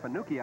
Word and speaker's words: Fanucci: the kickoff mike fanooki we pronounce that fanuki i understand or at least al mosta's brick banuchi all right you say fannucci you and moss can fight it out later and we'll call him fannucci because you're here and